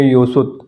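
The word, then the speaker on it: 여섯: इसको पढ़ेंगे था सुत थासु सिक्स को पढ़ेंगे युत और सेवन को पढ़ेंगे इल गोप इल गोप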